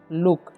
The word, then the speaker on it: look: यहाँ पर double O है, तो आप लोगों को लग रहा होगा यहाँ पर दीर्घु होना चाहिए, लेकिन दीर्घु नहीं होगा। ठीक है। इसे हम पढ़ते लुक, यानी कि जल्दी में पढ़ते हैं, तो यहाँ पर हर्षु का प्रयोग किया गया है। ठीक है। तो हर्षु होता है, तो लुक पढ़ेंगे।